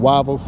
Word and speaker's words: Whiteville: part of the country, the way they say it is wo and and people kind of uh gest at it that they won't we don't pronounce and enunciate the words that we we call it wavvel as opposed to whiteville.